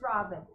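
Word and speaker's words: Ravn: why am i crying how do you pronounce r-a-v-n it's robin robin robin thank you for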